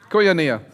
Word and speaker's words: koinonia: It is called koinonia. Emphasis on knee.